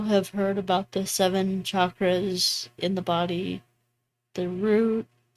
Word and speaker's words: chakras: And it's not pronounced chakras, it's chakras.